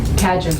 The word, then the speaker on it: Cadger: I mean, I talked to Karen Catter when we were thinking, is that how you pronounce it? Catter? Cadger. Okay. Cadger.